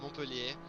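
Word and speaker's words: Montpelier: Well, I can tell you it's pronounced Montpellier, even though if you look at it, it's not at all what you're going to read, and it's probably not how you say it.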